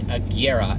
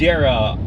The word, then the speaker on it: Agera: aera R is not right it is the Agera and kig zeg that is pretty hard to pronounce spelling is harder to to do this